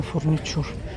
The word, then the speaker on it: furniture: Пожалуйста, не садитесь на фурничур. Ой, правда, они тут чем-то... Не садитесь на фурничур. Фурничур это... Фурнитуре пишется. Фурничур это... Мебель. Фурнитуре пишется, фурничур произносится.